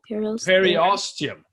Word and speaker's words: periosteum: Periosteum.